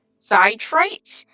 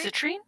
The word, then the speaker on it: citrine: of a 20 sighted polyhedrin um no um citrite I think I'm pronouncing that right citr citrine yes and um you would know from your